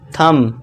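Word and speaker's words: thumb: और इसके बाद देखिए टी एच यू एम बी। तो इसे क्या पढ़ेंगे? थंब ना कि थंब। ठीक है दोस्तों? थंब। यहां पे बी साइलेंट हो जाएगा।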